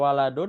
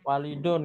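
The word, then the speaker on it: وَلَدٌ: Nah, ini bukan sama ya, karena banyak yang bacanya masih walidun. Nah, bukan walidun, waladun ya. Cara bedanya ada alifnya ini. Kalau ada alif berarti walidun, kalau nggak ada alif berarti waladun.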